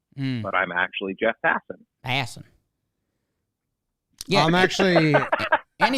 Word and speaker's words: Passan: people whose names are spelled differently than they're pronounced because i look like jeff hassan but i'm actually jeff hasson hassan yeah i'm actually and he's got he's